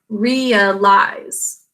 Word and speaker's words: realize: Realize, 3 syllables. Right. What's in the first syllable? E, 2 sounds. E is in an open syllable. Second syllable, what are the sounds? A-ol, basic code. And final syllable, what do you hear? I-z, 2 sounds. This is z, followed by a silent final E, which makes I say its name.